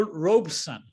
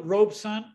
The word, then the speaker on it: Robeson: and he said well it's made up of two words really the first half robe is pronounced exactly the way that you just pronounce the garment that one often wears after waking up in the morning or when one is lounging around a robe and son he said signifies the male child of the family and